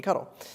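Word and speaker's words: ctl: cuddle which is a command line tool it's pronounced cuddle there's no other pronunciation to interact with SED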